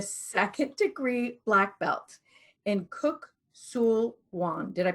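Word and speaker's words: Kuk Sool Won: Divinity, and a second degree black belt in Kuk Sul Wan. Did I pronounce that right, Cynthia?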